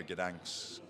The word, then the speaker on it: Gdańsk: Yeah, tomorrow, Gdańsk.